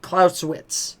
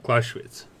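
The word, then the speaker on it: Clausewitz: So I cannot pronounce his name. So it's Carl von Claus Clauswitz. Clauswitz.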